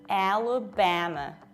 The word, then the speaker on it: Alabama: We say A, so we spread our lips to the sides, A, then we reduce them, L, again we spread them, Ba, M, Alabama, Alabama.